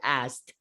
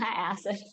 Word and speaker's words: asked: mean the the letter s or the word asked i asked the the drug no not acid oh right oh my god i was listening